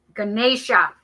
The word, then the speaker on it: Ganesha: I'm literally saying it in my head, and I just need to look it up. Ganesha. I knew I was saying it wrong.